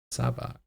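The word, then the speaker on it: Sabacc: What is Sabak? It's spelled S-A-B-A-C-C.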